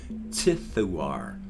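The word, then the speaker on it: Ziduar: name is more z-i-d-u-a-r but z-i-d-u-a-r is pronounced tithuar so thumbs up on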